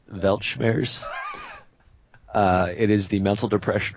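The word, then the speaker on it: Weltschmerz: word for you okay I believe it's pronounced belch bears it is the mental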